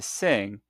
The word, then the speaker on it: sing: Now some learners pronounce this n and g leading to sing sounding like singer.